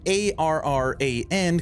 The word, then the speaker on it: Arran: Now A-R-R-A-N can also be pronounced Arran.